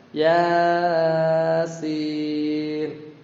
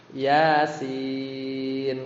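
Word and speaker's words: يس: Bacanya bukan Yasin. Wal Qur'an ya enggak. Jadi harusnya Yasin gitu ya.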